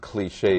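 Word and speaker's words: cliché: interesting anymore it's boring in fact the word cliche is French it's spelled c l i c h e and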